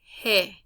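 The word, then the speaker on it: ge: were to ask you how do you say the letter g in spanish you would say hey you wouldn't tell me g or or the sound you would tell me hey okay again h some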